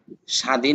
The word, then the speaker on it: স্বাধীন: বফলাটা যদি শব্দের শুরুতে আসে তাহলে বফলা জায়েদা হবে। অর্থাৎ লিখতে আসবে পড়তে আসবে না। যেমন কারি স্বাধীন বাংলাদেশ।